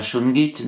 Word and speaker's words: shungite: Alors j'avais lu également ce sujet, un article, la shungite, donc ça se prononce shungite, est tout à fait profitable pour la longévité de nos animaux de compagnie.